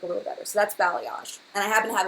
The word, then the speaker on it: balayage: What's the difference between balayage and ombre?